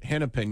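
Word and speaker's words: Hennepin: like Ramsey County and a place I might mispronounce it hennipen County Minnesota you got it you nailed it henpen you nailed it yeah and they it's up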